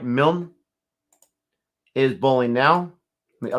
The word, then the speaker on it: Milne: on 16 balls jeez is it milne or milne it's pronounced mill not milton i appreciate that when